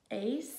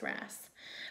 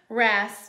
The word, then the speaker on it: wrasse: Ace? Hopefully I'm saying it right. No, I think it's wrasse.